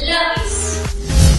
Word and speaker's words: lápiz: También tenemos la palabra lápiz. La palabra lápiz. Lápiz. Tiene dos sílabas y la sílaba que se pronuncia con mayor fuerza de voz es la.